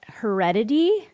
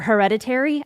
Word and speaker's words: Hereditary: most unpopular take but heredity um or hereditary I always say it wrong.